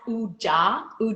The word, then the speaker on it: ooJah: So that's actually pronounced ooJah Productions.